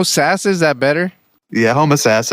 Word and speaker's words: Homosassa: is that better yeah homosassa is probably how you say it homosassa do you know why